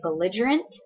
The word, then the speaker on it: belligerent: describes a person so everybody say belligerent it's bell lidge belligerent four syllables and so it describes